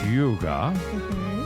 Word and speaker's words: hygge: strategies for living radio on 1017 fm7 K Yuga h y g g e it's pronounced Yuga a Danish concept and it's just taken off